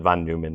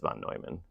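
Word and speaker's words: von Neumann: Someone pronounced it von Newman. That's fine. But I'm pretty sure it's Vonoyman.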